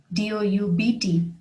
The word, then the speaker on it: doubt: her unable to speak doubt d.o.u.b.t has a silent b doubt a feeling of uncertainty